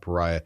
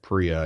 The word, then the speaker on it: Paria: pariah but it's not pariah locals call it priya i think they just skip over that first vowel in the name so priya canyon vermillion